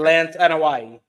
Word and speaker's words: Anoa'i: I can never pronounce the Samoans' names correctly. Lance Anoa'i.